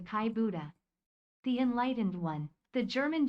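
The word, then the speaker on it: Kai Budde: Let us take this moment to correct the TTS's pronunciation of Kai Buddy to Kai Buddha.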